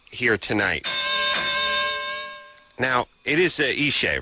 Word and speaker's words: Ishe: Ishe Smith is here tonight. Now, it is Ishe, right?